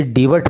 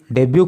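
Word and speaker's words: debut: देखो इस वर्ड का प्रोनाउंसिएशन आप विशेष रूप से याद कर लेना, ये डिवट नहीं है। कभी कोई इसको डिवट बोलने लग जाओ तो सारा तामझाम ही खराब हो जाएगा। इसका प्रोनाउंसिएशन है डेब्यू।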